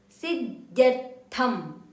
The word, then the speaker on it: Siddhartham: Siddhartham, Siddhartham, Siddhartham. Both the letters has a stress.